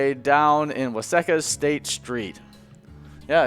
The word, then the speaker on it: Waseca: Waseca.